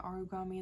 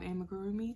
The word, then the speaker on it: amigurumi: origami I don't know why I kept calling it origami in the video tell me I have an uncultured swine without telling me I'm an uncultured swine okay um but I do apologize about mispronouncing that I do believe it is called amigurumi I did get into